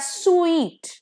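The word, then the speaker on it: suite: bank ने case किया एस यू आई टी ई is pronounced as स्वीट ठीक है अ स्वीट elongated pronunciation not स्वीट अगर स्वीट बोल दिया तो एस डब्लू E double E टी हो जाएगा जिसका मतलब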